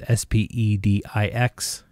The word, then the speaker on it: Spedix: As far as ESCs, this is the Spedix, or however you want to pronounce it. It's Spedix.